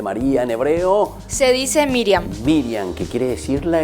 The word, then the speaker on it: Miriam: Y ya dijimos que su nombre en hebreo se dice Miriam. ¿Cómo se dice entonces el nombre de María en hebreo? Se dice Miriam.